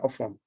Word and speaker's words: Ofon: Ofon is spelled O-F, off, O-N, on, off and on, joined together, Ofon.